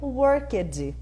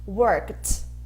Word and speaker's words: worked: Então, muita gente acha que o passado de work é worked, e na verdade, worked, né? Ele tem o som de T.